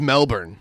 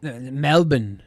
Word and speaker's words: Melbourne: in trouble when I say Melbourne yeah it's Melbourne Melbourne they have to you can't pronounce they are you go to hell that's